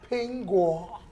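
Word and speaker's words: 苹果: Because apple in Chinese is 苹果. Pinguo. Very good. Yeah. 苹果. 苹果。苹果 is the same pronunciation as 平安.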